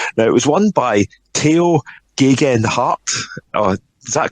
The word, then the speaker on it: Tao Geoghegan Hart: Now, it was won by Tao Geoghegan Hart. Is that correct? Did I manage to pronounce that properly?